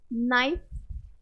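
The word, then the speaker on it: knife: silent grudge जज okay next के silent रहेगा नाइफ के से स्टार्ट है जिसने कभी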